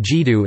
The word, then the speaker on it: 基督: Quote, the two characters now pronounced Jidu in Mandarin Chinese were originally pronounced Jidu, Jidu in Cantonese as representation of Latin Christus.